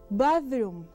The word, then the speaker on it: bathroom: En esta palabra tienes un sonido que ya lo has visto en otras palabras como thanks. Esta palabra, este sonido es muy similar a la Z, pero lo pronuncias poniendo tu lengua entre los dientes.